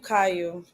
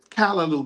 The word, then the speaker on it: Caillou: Oh, Caillou. It's Callaloo, baby. So you're saying it wrong. No, that's how I pronounce it. You know that's a white character, right? They don't pronounce it Callaloo.